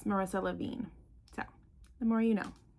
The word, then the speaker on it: Marissa Levien: Even though I messed up several times trying to say this book's title and author, I still said her name wrong. It's Marissa Lavine.